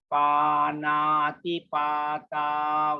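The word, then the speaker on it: pāṇātipātā: Okay, so this Panati Pata Veramani Sikkhapadang Samadhiyami. You see long A, short I, long A, long A.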